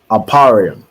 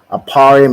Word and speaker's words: Ephraim: see go ahead T aparium right aparium is how you say ephra in the Hebrew and it means I